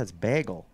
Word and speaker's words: bagel: or bagel bagel bagel a soft a how do you say it bagel bagel bagel it's a long a yeah it's bagel bagel bagel isn't that